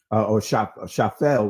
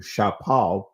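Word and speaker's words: שפל: Shapel is the or shafel rather in the Israeli is how this is pronounced. In the ancient Hebrew, shapal.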